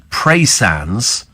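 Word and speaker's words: Praa: the local says Peter pra Sands near penans pronounced preand do you know honestly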